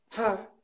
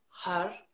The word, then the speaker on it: Har: And with the har produced har, not har, not with the lips, with the navel.